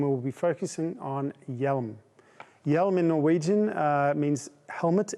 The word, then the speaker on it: HJELM: helmet in english and if you were to write it to actually pronounce it correctly you would write it with a y e l m yelum of course spelled differently